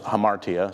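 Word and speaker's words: ἁμαρτία: Someone brought up last week, interesting fact that in both the Greek and the Hebrew, the word in Greek is pronounced hamartia, something similar to that anyway, and the word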